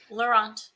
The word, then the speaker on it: Laurent: And I actually didn't get the correct pronunciation of your last name. Is it Laurent or Laurent? Laurent, yeah.